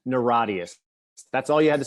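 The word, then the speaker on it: NIRATIAS: because it's low hanging fruit it's will you pronounce a new record oh oh yeah yeah it's it's called neradius naradius that's all you had to say and i'll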